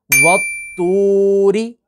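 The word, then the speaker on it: والطور: आगे देखते हैं, वत्तूरी, वत्तूरी।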